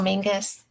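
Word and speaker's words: Menzies: But we um uh castle mingus. It's it's spelled menses, but they say mingus.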